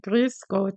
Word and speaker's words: Grüß Gott: E aí eu brinco com as crianças aqui, né, Grüß Gott, tem ó, o tem que fazer biquinho mesmo, é engraçado, parece um emoji de sorriso aqui, né.